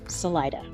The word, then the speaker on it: Salida: the RV resort is just south of Selita Colorado where some people pronounce it Salida this RV Resort recently